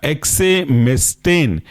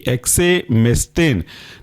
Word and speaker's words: एक्सेमेस्टेन: आखिरी एग्जांपल है आपका एक्सेमेस्टेन, एक्सेमेस्टेन की स्पेलिंग है EXEMESTANE, एक्सेमेस्टेन।